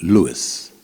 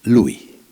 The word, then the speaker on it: Lou: Cassis they pronounce it Lewis but then the Western Hemisphere here they pronounce it Louie so either you call